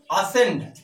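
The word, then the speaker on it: ascend: जैसे असेंड, असेंड means होता है चढ़ना। अब यहां पर यस प्लस क्या है? सी है तो सी क्या हुआ? साइलेंट हुआ।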